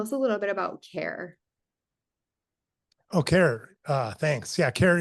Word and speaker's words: CAIR: Care it's spelled CAIR, is kind of designed to do that, and we're going to expand on that to empower patients more.